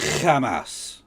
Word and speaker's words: Hamas: Pronounce it correctly, it's Hamas.